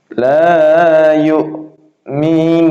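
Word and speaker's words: لا يُؤْمِنُونَ: Jadi bacanya la yu, kayak berhenti, kayak koma. La yu'minun, seperti itu.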